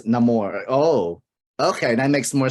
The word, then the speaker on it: Namor: pretty cool I like because pronunciation of Namor the name is Namor oh okay that makes